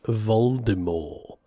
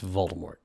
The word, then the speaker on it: Voldemort: that's so funny except According to Jim Dale it's Voldemort not Voldemort but according to Stephen Fry and JK Rowling it's Voldemort I don't know I